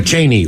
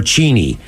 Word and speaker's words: Cheney: the subject is uh Cheney or Cheney guys it took me a while but it's not pronounced like the president that would be the vice president it's only about 15